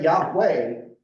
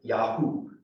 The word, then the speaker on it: Yahweh: it's a consonant and if you say Yahweh you're using it as a consonant but there were there was a group of Jews in elephantine Egypt who pronounced it yahoo I'm not kidding that